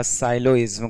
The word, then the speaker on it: syllogism: कुछ लोग पढ़ चुके होंगे ना लिखना न्याय निगमन या इसी को बोलते हैं सिलोज्म लिखा होता है ना या साइलोइज्म करके पढ़ते हैं। जी साइलेंट रहेगा।